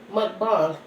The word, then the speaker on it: mukbang: Like a lot of the mukbang, correction, the proper terminology for that, mukbang.